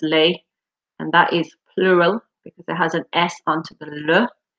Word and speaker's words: les: So L-E-S is pronounced lay, and that is plural because it has an S onto the le.